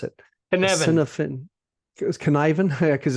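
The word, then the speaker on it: Cynefin: you pronounce it copin canivan because it's word it yes it rhymes with Kevin at least as best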